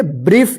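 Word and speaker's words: brief: एच लिखा रहता है तो आई का आई उच्चारण होगा ठीक है देखिए य प बी आर आई ई एफ इसको क्या पढ़ेंगे ब्रीफ इसको ब्रा नहीं पढ़ेंगे ठीक है ना ब्रफ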